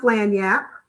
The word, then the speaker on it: Lagniappe: So, it is pronounced Lagniappe Life.